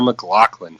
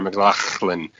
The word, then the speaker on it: McLachlan: Oh, excuse me, Sarah McLachlan. Yeah, so you gotta sound like you're hawking up a loogie in the middle. Well, she's actually, Mike, she's from Canada, so it actually gets the clean pronunciation.